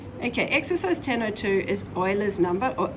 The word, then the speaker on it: Euler: okay exercise 1002 is euler's number or e now that button is in your calculator you've seen it before i just like the pronunciation there it's not euler it is euler um we have to